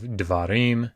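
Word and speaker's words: דְּבָרִים: Instead of davar, you have devarim.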